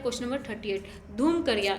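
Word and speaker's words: धुमकुड़िया: धूमकरिया। यहाँ पे धूमकरिया नहीं होगा, ये एक्चुअली होगा धूमकोरिया।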